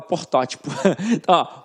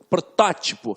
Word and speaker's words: protótipo: Protótipo, eu ia falar portótipo. Protótipo. Então, eu tenho a sílaba forte na antepenúltima sílaba.